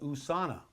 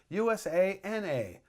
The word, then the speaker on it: USANA: for today is there is a sponsor called USANA okay Susanoo was a sponsor at one of